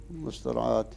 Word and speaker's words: المسترعاة: أحرف، وهنا وقعت خامسة، تكتب ياء في ناحية الخط، تكتب ياء، ولكن في النطق يتلفظ بها ألفا على أصلها مسترعات، والنطق بها ياء زي ما هي مرسومة في الخط. قالوا هذا لحن فاحش، فهي بين المسترعاة وبينة الاسترعاء، هكذا ينطق بها.